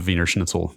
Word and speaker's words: Wiener schnitzel: free section of the vener Schnitzel that I cannot believe I just said it in German style I believe it's we it's pronounced weener schnitzel Brad excuse me the